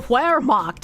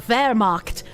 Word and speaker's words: Wehrmacht: Because I thought it was the Wehrmacht, not the Wehrmacht. German W is pronounced as V, so Wehrmacht, not Wehrmacht.